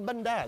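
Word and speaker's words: bánh đa: This is bandad. Bandad. It's like bandana. Ah, without all the extra syllables.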